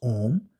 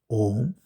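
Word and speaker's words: ॐ: and this sound is Om. It is made of three parts, A, U, Im, Om.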